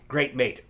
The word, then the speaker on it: Great M8: Great Mate. Great M8 is how it's spelled.